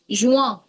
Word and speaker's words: juin: मार्च, Mars, अप्रैल, हम्म मई, जून, जू, जून, juin, आ, जुआ, जुआ, जुआ, जुआ, in at the end is a, आ, आ, so this will be juin, जुआ, ठीक है।